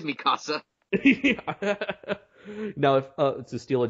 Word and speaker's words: Mikasa: I always feel the need to pronounce it as Mikasa. It is Mikasa.